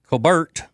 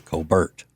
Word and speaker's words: Colbert: I've heard that's the original pronunciation of his name in South Carolina is Colbert.